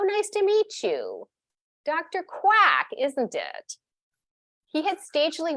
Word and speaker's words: Kwak: Indeed, some Horse's breathers cleaved quack into two syllables, ka-whack. But Yungman vividly recalled Mitzner helloing him and shaking his hand, saying, so nice to meet you. Dr. Kwak, isn't it?